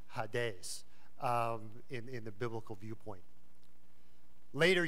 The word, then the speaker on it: Hades: may have heard the the terminology hadees or Hades as some someone like me would pronounce it but ha days is the the way that the Greek would pronounce it this is if